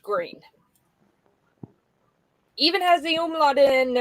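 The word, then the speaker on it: Gruene: It's spelled uh it's spelled gruin like as in green in German, but it's pronounced green.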